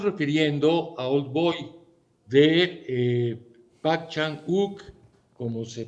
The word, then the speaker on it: Park Chan-wook: Nos estamos refiriendo a Old Boy de Park Chan-wook, como se pronuncia en coreano, o Park Chan-wook, como se translitera escrituralmente.